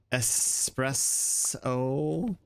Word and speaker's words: espresso: Espresso.